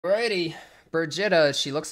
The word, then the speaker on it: Birgitta: Birgitta Skugieheim's most Birgitta.